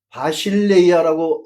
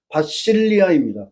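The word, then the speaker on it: βασιλεία: 근데 그 엘라 바실레이아라고 에라성식 발음으로론 그렇게 하지만 실제 그리스 현지 발음은 바실리아입니다.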